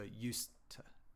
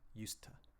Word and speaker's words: used to: the same movement uh if you have two of those sounds next to each other uh in English the first sound disappears it becomes like a stop so I've put the apostrophe to show the stop so used to used to not used to okay so for the